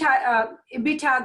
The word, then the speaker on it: EBITDA: tax depreciation and amortization so it's a bit a bit hog that's how they pronounce it earnings before interest